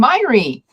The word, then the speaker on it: Mháire: this November so welcome myy hello GNA start out by saying yes that is how you say that if you're seeing that name you can say myy like Miley Cyrus but if you had